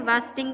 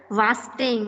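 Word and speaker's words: wasting: इट इज नॉट वेस्टिंग, इट is known as वास्टिंग, pronounced as वास्टिंग।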